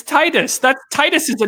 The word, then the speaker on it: Titus: record why would why would you think it's pronounced titties it's Titus that Titus is a name Perez ship teacher